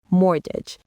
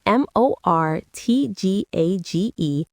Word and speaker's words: mortgage: Mortgage. It's m o r t g a g e. But that t is completely silent. Say it with me. Mortgage.